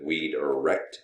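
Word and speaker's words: Wiedrecht: My name is pronounced -erecht, as you can see, and I'm also known as, that's W-I-E-D, period. Even though phonetically it looks like.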